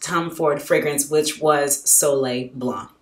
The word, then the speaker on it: Soleil Blanc: And then I used it toward my first Tom Ford fragrance, which was Soleil Blanc. I think the C is silent. It's French.